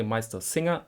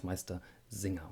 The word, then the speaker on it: Meistersinger: You can say Meistersinger, this is wrong, but everybody will understand you. But the totally correct form is Meistersinger with a soft S.